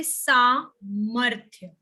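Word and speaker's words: सामर्थ्य: But when we pronounce the word, we say samarthya. So after ma, the sound of ra is coming, correct? If you pronounce it on your own, just see where the sound of ra is coming. It's coming after ma, samarthya.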